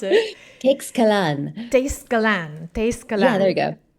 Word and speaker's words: Teixcalan: way to pronounce it if I was really using like the Nahuatl pronunciation that it's inspired by. But I deliberately am not, because it's not real Nahuatl, and I don't want to say that it is.